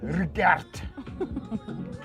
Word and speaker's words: Rickert: Wilbert Rickert, or rather the Afrikaans pronunciation, Wilbert Rickert.